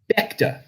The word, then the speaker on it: Bechta: Bechta, not Bechta.